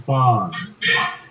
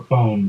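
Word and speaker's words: Fone: You know, Jack, what you might do, check with Alan Fawn, or Phone, depending on how you want to pronounce the last name.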